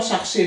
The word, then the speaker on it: chercher: Chercher, aqui eu só não pronuncio, eu vou pronunciar aqui, então cher. Aqui eu falo o R, tá?